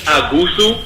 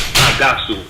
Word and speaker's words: Agasu: They changed the pronunciation a little bit in Louisiana. It's Agusu, but the original is Agasu, and Agasu also exists in Haiti as well.